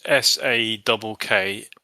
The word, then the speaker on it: Saqqara: I think it was Saqqara. I'm not sure what that was. Saqqara is Sakkara, or you can spell it with a double Q, but it doesn't really matter.